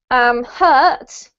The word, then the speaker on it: hurt: The next 2, hurt is the same as this sound here, and heart rhymes with cart or smart.